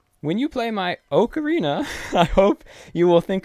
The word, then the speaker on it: ocarina: in another language, and the way that that is pronounced is oka, not Aka. It's pronounced Oka, so I believe it is actually correct to say ocarina.